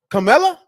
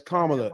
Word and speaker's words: Kamala: You just said it wrong. Camela. Is it Is Camela Kamala? No man, it's Kamla. It's Kamla with a comma.